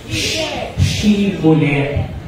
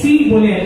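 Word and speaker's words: shibboleth: Kapag ang sinabi nung tao ay sibulet, kasi ' ba ano dapat yung ipo-pronounce nila na word? She bullet. Pero kapag hindi niya ito ma-pronounce, ang pag-pronounce niya ay culet. Wala yung H.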